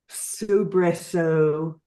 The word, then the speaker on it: soubresaut: So we have no, glow, fro, soubresaut, which I only know how to pronounce because of this book.